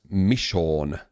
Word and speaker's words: Michonne: It's pronounced Michonne.